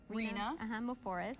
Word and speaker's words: Moforis: Moforis. Moforis. Rhymes with Lavoris.